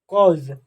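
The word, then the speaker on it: cause: दिखाई दे रहा है यदि किसी वर्ड में एयू एक साथ हो तो एई को औ के रूप में प्रोनाउंस एशन किया जाता है किसके रूप में औ के रूप में प्रोनाउंस एशन कर दिया जाता है जैसे सी ए यू एसई कॉज कॉज ही से कॉज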